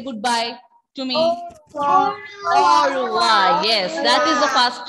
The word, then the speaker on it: au revoir: Au revoir. Yes, that is the first one. Au revoir.